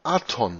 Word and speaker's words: Adon: Das hebräische Adon, der Herr, wird mit Punkten Aton ausgesprochen. Wir haben Beweise dafür, dass